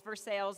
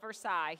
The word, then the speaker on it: Versailles: And for those of you not from Kentucky, we did not pronounce that wrong. It is Versailles, not Versailles, here in the great Commonwealth.